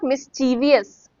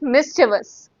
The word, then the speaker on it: mischievous: This is not mischievous. This is mischievous.